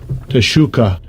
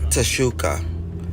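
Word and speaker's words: תְּשׁוּקָה: All right, in the Hebrew, let's see if they can pronounce it. Strong's H8669. Teshuka. Teshuka.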